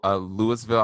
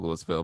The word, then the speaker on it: Louisville: also surrounding markets so Louisville I like the pronounce a Louisville but it's actually Louisville and Cincinnati Ohio and